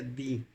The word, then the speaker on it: Dee: En Inglaterra había un personaje llamado John Dee, que se pronuncia Dee, que era muchas cosas.